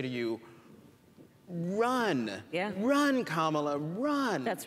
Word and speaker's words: Kamala: Kamala. So just think of like the punctuation mark, a comma, and that add a la, and there you go.